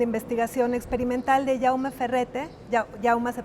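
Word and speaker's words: Jaume: una dimensión de investigación experimental de yauma ferrete yauma se pronuncia un artista Catalán que vive entre México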